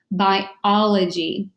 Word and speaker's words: biology: the oka next over with the low G biology and it's the study of life and so